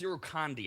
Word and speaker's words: Irukandji: He is targeting the Irukandji jellyfish. I'm not sure if I have that pronunciation right. That's fun to say. Irukandji. Oh, it's Irukandji. I did hear it pronounced.